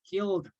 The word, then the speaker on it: killed: ever killed anybody okay the Ed pronunciation is D killed have you ever killed